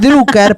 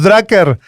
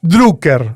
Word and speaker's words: Drucker: eh a Drucker y perdón la pronunciación es Drucker porque es austríaco. A mí me lo enseñaron en la facultad y me voy a las piñas. Your face. Todos los que le decíamos drcker, mal. Drucker.